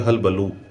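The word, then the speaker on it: hullabaloo: का शब्द है और इंग्लिश में इसको बोलते हैं हलबलू। हलबलू पीछे उ की मात्रा है बड़े ऊ की लेकिन यहां पर जो स्पेलिंग में जो डबल ओ आया है उसका यहां पर यह ओ कर दिया गया है तो इसलिए बोलते हैं इसको हलबल तो यह भी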